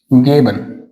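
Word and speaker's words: geben: जी को क्या बोलते हैं? हम ग बोलते हैं। For example गेबन। गेबन, यहाँ पे क्या बोल रहे हैं हम इसको?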